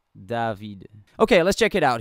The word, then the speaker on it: Davide: yes I brought in two dope bass singers pronounced David okay let's check it out here we go